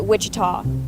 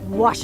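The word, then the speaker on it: Ouachita: for wasita Baptist University back in Texas everybody pronounces it Witchita but really it's was wash wash how would you pronounce it wash was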